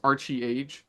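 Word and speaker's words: ArcheAge: at ARC age Chronicles which I pronounce Archie age Archie CH cuz I I can't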